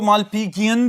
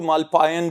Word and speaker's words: Malpighian: जी students, इनको मालपीजियन भी बोलते हैं, मालपीजियन भी, और इवन के कुछ प्रोनाउंसिएशंस ऐसी भी हैं जिनमें इनको मालपायन भी बोला जाता है, लेकिन सस्पेंडेड ट्यूब्यूल्स हैं, आसान तरीके से याद रखें।